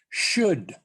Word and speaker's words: should: carefully for the pronunciation should neither the o nor the l is pronounced as in we should